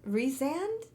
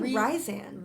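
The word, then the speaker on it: Rhysand: Reason. Rezand. That's how you pronounce it. I was always saying risand.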